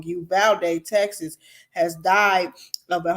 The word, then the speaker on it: Uvalde: in a mass shooting in uvadale texas or you bet you valde rather i pronounced it all the way wrong you valde texas has died of